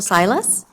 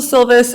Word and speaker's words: Silvis: next speaker is Silas I that's okay I have terrible writing Sil I said it wrong no uh my name is Silvis I am at 13925